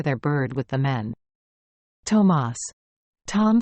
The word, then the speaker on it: Thomas: "Tomas," Tom says to the man, then corrects himself and pronounces his name the English way. "Thomas."